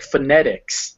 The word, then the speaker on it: phonetics: stress is especially in longer words like phonetics it would come before the net because that's the stressed syllable phonetics now this odd